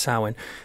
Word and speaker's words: Samhain: example I mean when you look back at sewing which is I mean it is spelt some Samhain it's not that way pronounced sewing and back then for the kind of the